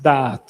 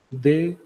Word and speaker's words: Da'at: La palabra para conocimiento es Da'at, D-A-A-T, así se pronuncia, Da'at.